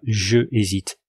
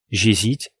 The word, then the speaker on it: j'hésite: un h muet donc on va dire j apostrophe hésite j'hésite et non pas je hésite j'hésite tu n'habites pas n